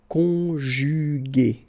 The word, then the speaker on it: conjuguer: Okay, second possibility here, you've got this accent aigu. So remember, this accent aigu is pronounced a, okay, and so you get the word conjuguer, conjuguer.